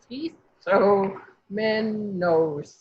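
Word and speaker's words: σχιζόμενος: Schizomenos. Yeah. Reminds me of a mental illness we know about. Isomenos. Yes, exactly. So this is schismatic or schizomenos. Yeah, so this is a Z sound, DZ, schism.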